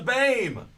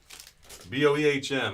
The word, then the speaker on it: Boehm: B-O-E-H-M. It actually is pronounced BAME, not Boehm.